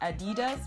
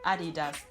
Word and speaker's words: Adidas: That is how Americans, I think, would call it. It's not Adidas, but Adidas.